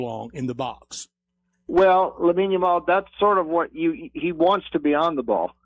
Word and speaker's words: Lamine Yamal: Help me with the pronunciation. Lamine Yamal.